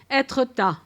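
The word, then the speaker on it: Étretat: I'm going to make a mistake of my pronunciation, but I call it Etretat. But I know you just did a podcast. Etretat.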